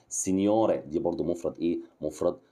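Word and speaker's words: signore: سيد سنيور خدت بالك بص سين الجي ماتنطقش ها سنيور دي برض مفرد ايه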